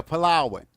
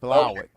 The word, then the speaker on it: Palawan: Yeah, Palawan. That's that's how it's pronounced. Palawan.